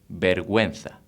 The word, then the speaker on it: vergüenza: So if you want to make a different sound, pronouncing the U, you have to put 2 points on the U. Ge, Gi will become in Gue, Gui.